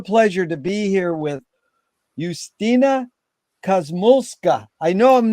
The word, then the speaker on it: Justyna Kosmulska: correctly and I apologize tell us how to correctly pronounce it please that that was correct that was beautiful thank you Jerry my name is eustina cosmoska and I'm ringing from